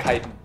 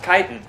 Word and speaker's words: chitin: It's pronounced chitin, actually.